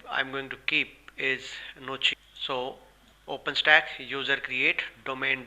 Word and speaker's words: Gnocchi: For that user, I'll be calling it as Gnocchi, keeping G as silent.